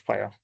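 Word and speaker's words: FHIR: a way right so it's actually pronounced fire like fire and it's the global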